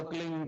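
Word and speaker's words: क्लीं: की मात्रा और बिंदी उसका उच्चारण होगा क्लिंग ग की निकलेगी पीछे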